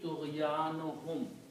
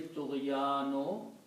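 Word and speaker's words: طغيانهم: So when you read this together, it will be Tughyanuhum. When you combine, you pronounce one dhamma here, and it will be Tughyanuhum.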